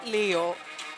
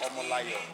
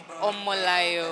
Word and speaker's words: Omolayo: Is it Leo? I don't want to Say, mispronounce. if you say, that means you are talking from a perspective of English. You understand? So Okay. it's Omolayo, Omolayo.